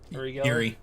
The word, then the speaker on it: Uri Geller: okay, Yuri Geller.